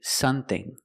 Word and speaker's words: something: cannot say something something I have to close my lips to make the M sound some some something something The Vow is a short uh sound like cup and up some thing use the th with no voice and the vowel e like green beans thing something and we can use